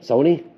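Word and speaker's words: Sohni: don't like bubble letters, Sony, S-O-H-N-I, right? Sony, look at this. I hope I'm saying it right. Am I saying it right? Sony? It's like Joni, Sony.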